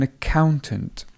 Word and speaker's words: accountant: It would be an accountant, and it comes from the word count and accountant. The stress still stays over the middle.